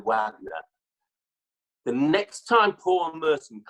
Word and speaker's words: Wagner: season Palmerston told me I was pronouncing David Wagner's name wrongly because I was calling David Adler he's me no no no you know he's got American ancestry so in his David Wagner the next time Paul